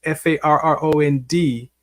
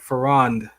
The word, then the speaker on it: Farron: I changed it to a more masculine tone, which is Farron, spelled the same. I just made it more to where when people said it, actually it was Farrond, so people could say the whole thing like Farron, like that, Farron, not Farron.